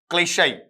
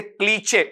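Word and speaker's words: cliché: ये होता क्या है आप इसे क्लीचे ऐसा नहीं पढ़ेंगे ये आ गया तो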